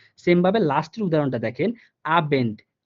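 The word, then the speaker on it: Abend: Same ভাবে লাস্টের উদাহরণটা দেখেন, আবেন্ট, আবেন্ট, হ্যাঁ, এই যে দেখেন আ বেন্ট, অর্থাৎ বটা কিন্তু বয়ের মতো উচ্চারণ, অর্থাৎ বেটা ব বাংলা বয়ের মতোই উচ্চারণ হইতেছে যে আবেন্ট।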